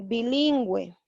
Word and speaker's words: bilingüe: Pero como yo voy a poner la diéresis, vamos a pronunciar la U y sería antigüedad. El caso de bilingüe.